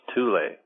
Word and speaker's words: Thule: Because Thule is actually pronounced Tule.